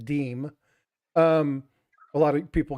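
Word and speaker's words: disme: dime now not the dism as people call which is actually pronounced deem um a lot of people get that wrong but it they it depends on who you talk to yeah dis me but it's actually the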